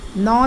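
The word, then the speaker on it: gnaw: चबाते हैं some animals नो their food नो spelling जी से स्टार्ट हो रही है लेकिन जी साइलेंट है नो और इसको इसका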